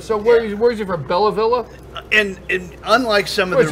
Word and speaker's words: Belleville: Belleville. Two Belleville.